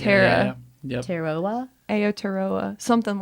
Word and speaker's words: Aotearoa: Aotearoa. Aotearoa. I think. Aotearoa. I think it's Aotearoa. Yeah. Yep. Teroa? Aotearoa.